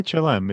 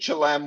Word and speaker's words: Chelem: you landed in shalom how do you say it yes why why chlam it's a small town fishing village it's closest to some restaurants no uh the reason we picked chilem was i went online